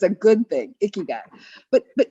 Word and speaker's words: ikigai: ikigai i k i g a i it's pronounced like ooh icky guy but it really means a little Wiki guy it's a good thing icky guy but but icky guy is um it's about you finding your purpose